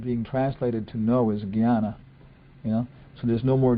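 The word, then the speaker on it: jñāna: Well, the word being translated to know is jnana, So there's no more jnana, let's say, pronounce it correctly.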